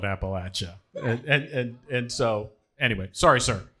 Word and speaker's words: Appalachia: I'd like to start by saying it's nice to be somewhere where Appalachia is pronounced correctly. I spend a lot of time on podcasts hearing different variations of Appalachia, and I was like, it's for the folks that live here, we call it Appalachia, and so anyway, sorry, sir.